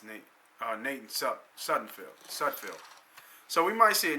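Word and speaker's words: Sudfeld: I know it's Nate Sudfield.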